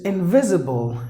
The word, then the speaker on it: invisible: Maybe there is an S letter, but that is pronounced like Z because it is in between the vowels.